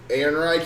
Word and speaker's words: Ehrenreich: Ehrenreich.